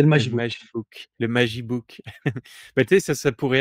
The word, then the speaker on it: Magibook: Dont j'ai la propriété, qui s'appelle un mag e-book, un Magibook, MAG-e-book. Ah oui. Donc, quand tu le prononces un peu, rapidement, ça fait Magibook, voilà.